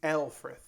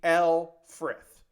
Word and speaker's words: Lfrith: then we'll work on the Alfred that's right that's the pronunciation I'm going with I'm going with a basically what the dub says instead of the Luth which I've been calling it The L frith um which is from